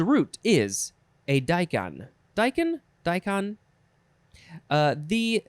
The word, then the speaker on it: daikon: daikon daikon i think some people might say daikon or decon uh but it is officially pronounced daikon k o n noun from